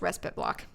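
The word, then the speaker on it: respiteblock: yeah it's crazy also just for future reference it's pronounced respite block you step outside your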